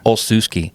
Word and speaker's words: Olsewski: your last name everybody it's actually it's simple if you break it down right oh so ski yeah right that but yeah olsusky yeah it's like and it's